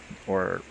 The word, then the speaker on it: au: It becomes, instead of a le, it becomes ow. O. Or o. O. O. O. Spanish is ow, but in French it's just O.